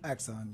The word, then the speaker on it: Axon: So the Axon, and I hope I'm pronouncing this right. Axon, yes, ma'am.